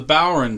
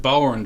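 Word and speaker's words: bodhrán: collection it's called the bower and drum or sometimes we pronounce it bower and drum um it's being pronounced in english but actually it's an irish gaelic word that if you saw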